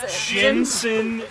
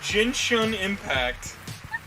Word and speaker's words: Genshin Impact: Yeah, she said Jensen. Genshin Impact. God bless. How did you say Shin right, but not Gen?